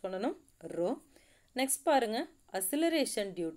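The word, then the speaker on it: rho: இந்தலாம் புதுசாக ஒரு சிம்பிள் இருக்குது, ரோ. அதை எப்படி ப்ரொனவுன்ஸ் பண்ணணும், ரோ.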